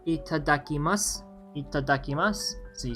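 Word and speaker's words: いただきます: Itakimasu, or not itakimasu, what am I saying? Itadakimasu.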